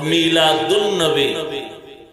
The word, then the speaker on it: মিলাদুন্নবী: আন্নাবী সিরাত আন নাবী যখন সন্ধি করে উচ্চারণ করা হবে তখন হবে মিলাদুন্নবী আলিফ লাম লেখা আসবে পড়ায় আসবে না সিরাতুন্নবী যেমন বাংলাতেও দুই